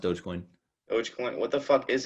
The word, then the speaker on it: Dogecoin: Yeah, no, it's pronounced Dogecoin.